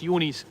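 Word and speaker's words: Johne's: They can have dormant yonies where it's not and it's spelled J O H N S. Yonis.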